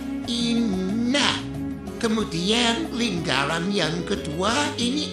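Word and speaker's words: إِنَّ: Yang pertama ada kata inna. Inna ini nunnya bertasdid maka dibaca hungunna atau de dengung inna.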